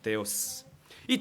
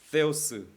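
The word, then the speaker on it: θεός: 그니까 세스가 되는 거죠 세스 따라합시다 세오스 데오스 그러면 안 되고 세스 세스가 아니고 스가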